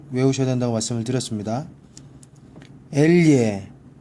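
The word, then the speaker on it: elle: 엘예, 아가 뒤에 붙었을 때 야와 자의 중간 발음이지만 여러분들이 원하는 야로 발음하시든 자로 발음하시든 상대편 외국인 현지인 사람들은 모두 알아듣는다는 거.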